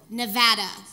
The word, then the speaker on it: Nevada: i get it now i get it it's nevada i had to train myself nevada data i had to train myself because the first time i said i'm so excited to live in nevada now i got yelled